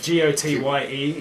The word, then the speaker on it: Gotye: So it's pronounced as in his surname, but, you know, I just kind of came up with my own spelling.